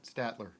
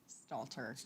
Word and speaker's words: Stalter: say Meg blank no I can't Meg St Statler Stalter see I can't people make fun I love her to death St Statler Stalter see Stalter Stalter Stalter Stalter yeah you got it there it is